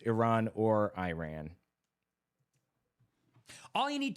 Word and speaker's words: Iran: says that Iran or Iran are proper pronunciations, either one. It looks like Iranians pronounce it Iran. So that's a correct way, but Iran is an Anglicization common in American English.